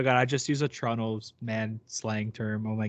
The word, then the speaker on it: Toronto: from toronto you don't you don't call it toronto you call it i get so mad i guess like it's literally a trigger it's a trigger warning for me man when i hear like americans say toronto it's like bro it's toronto like just say it right the toronto all right